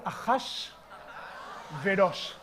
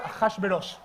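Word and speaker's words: Achashverosh: Achash Verosh. 1 word, Achash Verosh.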